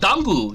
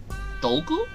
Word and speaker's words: Dogu: Pronunciation. Do. Dogu? Do. Do? Do. U. Dogu. Yeah, okay, so I was kind of pronouncing it right.